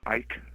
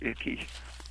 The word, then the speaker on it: Icke: Do you know who David Icke is, or Icky? It's spelled Icky.